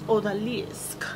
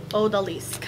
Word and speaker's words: Odalisque: to see it, and I believe it is pronounced Odalisque. Odalisque, something like that.